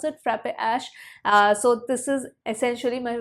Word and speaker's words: Frappe Ash: That's how you pronounce it, Frappe Ash.